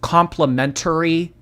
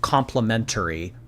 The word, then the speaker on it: complimentary: Yeah, so Amberlynn, the word is pronounced complimentary. Just for future reference.